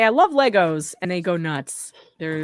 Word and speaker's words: Lego: It's not Legos. It's Lego. It's a trademark.